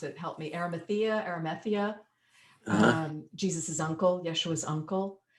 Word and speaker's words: Arimathea: And there's just these gardens are amazing, and they're all to do with Joseph of I always mispronounce it. Help me. Arimathea, Jesus's uncle, Yeshua's uncle.